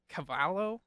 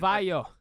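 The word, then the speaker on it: Cavallo: Producer Rob Cavalo. How do you say that? Cavalo or something like that. Me back in the not able to pronounce names again. Cavayo. Cavayo. Cavayo. Thank you, Rob Kavayo.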